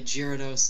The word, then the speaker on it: Gyarados: By the way, Gyarados is the correctly pronunciated.